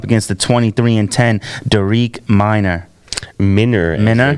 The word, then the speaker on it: Minner: Minner, as they pronounced it.